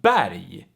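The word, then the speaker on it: berg: explain so for instance r plus g and l plus g they make the g also pronounced like yi so for instance we have bari which means mountain and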